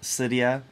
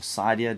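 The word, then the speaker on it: Cydia: us the option to install cyia or Sidia depending on how you want to pronounce it as well as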